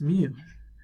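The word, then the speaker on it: μ: Okay, and then mu is a Greek letter pronounced mu.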